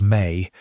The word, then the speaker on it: me: That word is me, pronounced roughly as may, and it is one of the most significant and least straightforwardly translatable concepts in all of Mesopotamian thought.